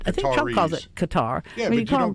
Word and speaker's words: Qatar: what's proper pronunciation of Q A T A R. And the chic basically said, well, it's it's Qatar is the main pronunciation, but it's perfectly okay to say cutter or gutter.